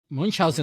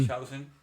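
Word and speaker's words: Münchhausen: Munchausen. Munchausen, sí, Usted solamente ponga el acento Munchausen sí es. y ya suena alemán.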